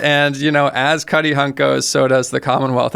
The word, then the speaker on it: Cuttyhunk: Cuttyhunk. Let's pronounce that correct.